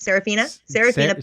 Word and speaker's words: Seraphina: question is sephraphina is how you say it Seraphina Sarah yeah Pharisee that a Seraphina pecula that's